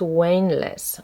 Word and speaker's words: Wanless: impression that I'm not I'm mispronouncing James Wayne less I think that's how we say it yeah so um this